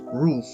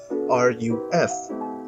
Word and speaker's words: Ruf: The company's name is pronounced RUF, as in the things that stop rain from getting into houses and apartments, and not RUF.